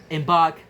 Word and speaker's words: embark: Embark has two syllables. But the stress is on the second one, embark, because the rhyming sound arc carries the weight of the stress in both words.